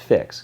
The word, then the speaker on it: PHX: loving Phoenix let's get your PHX pronounced fix get it play on words and it works for